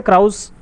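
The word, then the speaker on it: Krausz: और दूसरे हैं इनका नाम है फेरेंक क्रॉस, ये जो है फ्रैंक क्रॉस या क्राउस, आप जो भी प्रोनाउंसिएशन करना चाहें कर सकते हैं।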